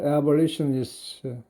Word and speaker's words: abolitionists: 그러니까 폐지론주의자들, S는 복수고, 그래서 abolition의 발음이 한글로 적으면 이거는 리에 좀 길게 하고요.